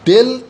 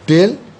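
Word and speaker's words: ∂: আমরা যেমন এইটাকে ডিওয়াই ডিএক্স বলে থাকি, তেমনি এটাকে আমরা বলে থাকি ডেল এফ ডেল ওয়াই। ডি না বলে তার বদলে আমরা ডেল উচ্চারণ করি, ডেল এফ ডেল ওয়াই।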